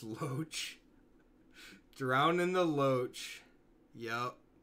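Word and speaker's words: Loch: It's pronounced Loach.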